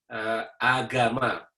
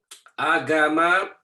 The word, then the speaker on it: agama: In Indonesia, the term that Indonesian use comes from a Sanskrit term, an Indian language term, Sanskrit, agama. Agama, A-G-A-M-A, so that's how you pronounce it, agama.